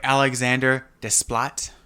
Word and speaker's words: Alexandre Desplat: Music by Alexandre Desplat.